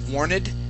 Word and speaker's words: warned: Here you had said warned. It is warned. Warned. Okay. Warned. Good, good. Warned. Excellent. Yeah, so that's a D sound at the end.